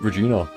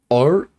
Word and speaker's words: Regina: Akro doesn't seem to have very many nice things to say about Regina.